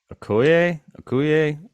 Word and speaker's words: Okoye: Um, Okuye. It's spelled Okoye.